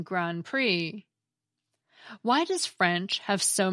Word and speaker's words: Grand Prix: The same goes for the silent P and silent T in coup d'etat, and the silent D and silent X in Grand Prix.